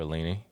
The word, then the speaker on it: Aline: This is a huge fight for Aline.